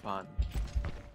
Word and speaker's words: pan: Did you know that in Japanese bread is pronounced as pan?